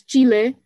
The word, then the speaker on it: Chile: Am I saying it correctly? Is it Chile? It's Chile. I kind of like do a middle of like English and Chile, yeah.